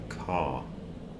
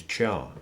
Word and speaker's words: char: you feel comfortable with it's an abbreviation of the word character which has a silent h so I tend to call it a car because in character the